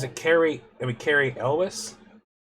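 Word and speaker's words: Elwes: pulled up is it Carrie I mean Carrie Elis Elis yeah he's in it as go figure the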